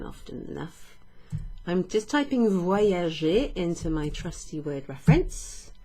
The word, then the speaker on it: voyager: I travel, from the verb voyager. Voyager. Listen to the way that Y, the Y is pronounced.